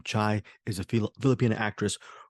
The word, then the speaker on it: Chai: to say Fier chai I do know that's her first name that is how you pronounce her first name chai is a Phil Filipino